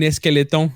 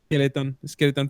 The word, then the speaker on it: skeleton: c'est skeleton, pas S.